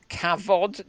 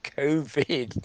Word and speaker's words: COVID: Facing Cavod 19. God, they need a. That is not how you pronounce it. It's COVID, not Cavod.